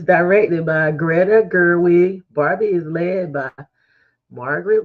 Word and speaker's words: Gerwig: Gertch, is it how you say her name? Greta Gerwig.